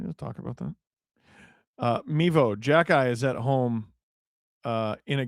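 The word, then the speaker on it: Xhekaj: Arbor Jackeye, Florian Jackeye.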